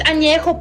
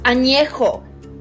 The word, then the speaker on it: añejo: least you can do is learn how to pronounce the tequilas correctly. Blanca, Reposado, Añejo. What the fuck is Añejo? It's Añejo, puñetas. Añejo.